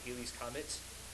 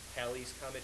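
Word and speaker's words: Halley's Comet: had done uh specifically Haley Haley's comment Hal's comment depending on how you say it okay uh Edmond Edmond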